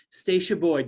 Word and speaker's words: Stasha Boyd: florida on thursday afternoons my guest today is stacia boyd did i pronounce that correctly yes you did i would